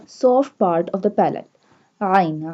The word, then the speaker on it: ع: Ain. Ain pronounced from the middle part of throat.